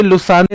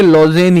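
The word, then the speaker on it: Lausanne: कोई इसको लुसाने लिख रहा है, कोई इसको लॉजेन लिख रहा है। वैसे ये अंग्रेजी का नाम है तो ये लुसाने ना हो के लॉजेन ही ज्यादा होगा।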